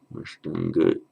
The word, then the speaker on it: Ashtanga: Ashtanga Yoga. Ashtanga Yoga. Remember that's the shta. Shta.